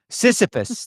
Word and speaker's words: Sisyphus: Well, it also comes to, like, the whole idea of what is it, Sisyphus? Is that pronounced correctly? The, like, Syphilis? no, Sisyphus, the pushing the boulder up the hill, and then you get Mm.